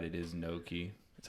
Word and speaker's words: gnocchi: At least it's There's packaged gnocchi. at Walmart, but now, and I did look it up, and you're right. It is gnocchi.